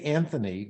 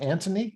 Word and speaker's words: Anthony: But, before we do, if you could tell us a little bit about who, and I say Anthony Warren, but in the UK, it's more Anthony. Is that a better pronunciation?